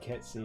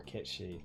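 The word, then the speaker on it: Cait: actually pronounced yeah uh it's either pronounced KY or Ki depending on um which translation you use the original reference is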